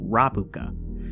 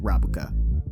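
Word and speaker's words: ラブカ: Well, actually, in Japanese, the song is called Rabuka, which is what translates to frilled shark, and sounds similar to Is It Love in Japanese, which is also pronounced Rabuka.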